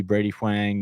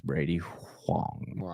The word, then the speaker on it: Brady Hang: And that was Brady Hang. I said it wrong the first time.